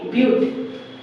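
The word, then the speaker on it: but: ये है बट, अगर हम प्रोनाउंस क्या करेंगे ब्यूट।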